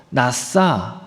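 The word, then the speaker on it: נסה: 시험이라고 하는 단어가 죄송합니다 히브리어로 나싸 싸라고 발음을 하는데 그 의미가 입증하다 또는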